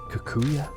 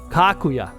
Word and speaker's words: Kaguya: out between my lips your name is kakua no that's wrong thank you I appreciate you telling me how to pronounce that I was being very disrespectful kakuya kakuya it's like she can't